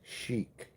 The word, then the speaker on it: chic: So, if you've just arrived and you uh Yeah, except it's pronounced it's it's not a K at the end. Fly guy. It's chic.